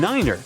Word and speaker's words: niner: Tree stands for 3, 5 for 5, and niner is used instead of 9.